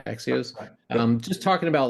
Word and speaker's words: Axios: Axios.